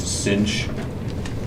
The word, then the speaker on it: sinh: Sometimes this is just pronounced sinh, and hyperbolic cosine is pronounced cosh.